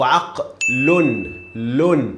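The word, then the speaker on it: عقلٌ: So aqlun. This is how we pronounce. This is how we say lam tanween dhamma. Aqlun. Again, aq, ayn, fatha. Qaf, sukun, lam, the last one with tanween dhamma.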